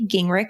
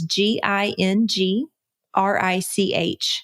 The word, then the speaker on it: Gingrich: if you go to my website ging rick and i'm gonna spell that for you because it's special in a tae li e and my last name is so it's gingrich comm and I am